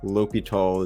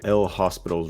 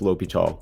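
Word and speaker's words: L'Hôpital: L'Hopital is how it's pronounced, so it looks like this. Looks like El Hospital's rule, but it's pronounced L'Hopital.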